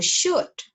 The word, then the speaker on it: should: Again, like could and would, you are not going to pronounce the L. The L is also silent. Okay, so should and ought to, okay?